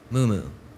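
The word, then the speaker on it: muumuu: there any alternate uh pronunciations no am I pronouncing the word correctly Mumu thank you Mumu mu U mu uu mooo that is correct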